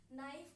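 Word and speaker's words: knife: नाइफ का आपको पता है मीनिंग क्या होता है? चाकू। ठीक है? इसमें के साइलेंट होता है।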